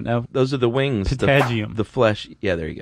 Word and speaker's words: patagium: a webbed membrane called a, how do you pronounce it? I don't know. Those are the wings. Patagium.